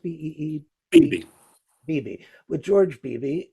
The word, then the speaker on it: Beebe: Is it pronounced Beebe?